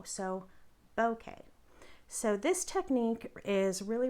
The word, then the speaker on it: bokeh: to pronounce it so it sounds kind of like bouquet like a bouquet of flowers um emphasis on the bow so bokeh so this technique is